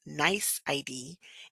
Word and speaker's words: NYC.ID: to have a nyc.id a nyc.id pronounced nice ID is an email address